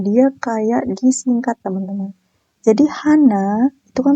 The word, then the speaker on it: 한: Bukan Hana, tapi dia nyebutnya Han, cuman Han aja.